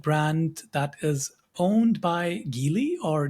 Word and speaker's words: Geely: Now, this is a new EV brand that is owned by Geely or Geely. Sam, first of all, how do you say that? I'm pretty sure it's Gili, Okay, but I mean, but potato, potato, so right?